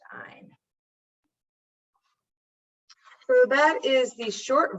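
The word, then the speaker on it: -yne: So I'm going to use the ending YNE, which is pronounced "ine."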